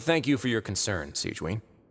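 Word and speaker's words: Sigewinne: But thank you for your concern, Sigewin. Sigewin, okay. Oh, That's how you say her name.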